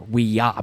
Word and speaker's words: Ouija: guy brings over a a Ouija board or weah board as you know the guys insistent on calling it the proper pronunciation they use it to